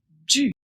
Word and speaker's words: du: Celui-là se prononce du. Le U doit être prononcé u.